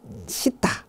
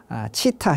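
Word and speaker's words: चित्त: 원래 이 산스크리트 원어로 보면 이 마음이란 말은 원래 시타, 치타, 시타 이런 발음을 하는데요.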